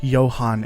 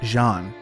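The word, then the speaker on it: Jahnn: of the English name John which is normally pronounced Johan in German searching for the name JN brings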